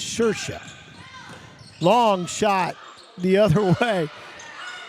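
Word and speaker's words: Saoirse: actress with this name, Shersha is the way you pronounce it, or Shersha, even though it's spelled Saioirse. But in the Irish, it's Shersha.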